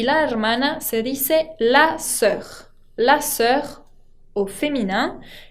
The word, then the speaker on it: sœur: No se pronuncia como una O, sino que como una E.